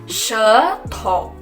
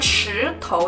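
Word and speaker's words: 舌头: Terus lidah adalah shetou. Bukan shitou ya teman-teman ya, dia beda mulutnya. Kalau SHI kita bacanya shi, tapi kalau SHE kita baca she.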